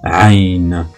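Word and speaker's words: ع: Alors je reproduis la prononciation de cette lettre. Hein. C'est aïn, aïn, aïn.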